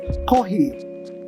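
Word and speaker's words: コーヒー: They pronounce coffee as kohi with an H.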